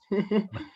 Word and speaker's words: Ariane: Y pues también para presentar justo a Arián, ¿sí se pronuncia así, Arián? Porque no sé si... Ariane o Ariane. Arián.